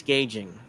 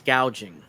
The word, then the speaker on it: gouging: No, it's not price gauging. It's price gouging.